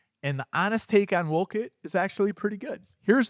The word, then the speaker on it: Wolcott: The first thing we need to go over with this town is the pronunciation. You don't know how many people call in and say, I want to go see a house in Wolcott or Wolcott. It's Wolcott. Wolcott. So let's get that straight.